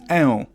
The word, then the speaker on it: ę: Next up is ę. Similarly to how a had a variant o, e has a variant ę. You take that e and you drag it a little bit.